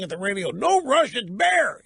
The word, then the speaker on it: Bexar: this County in Texas Bexar and it's bear the it's Spanish the X is silent in Spanish I should have known